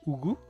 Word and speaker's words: Yugu: So, the Y is silent.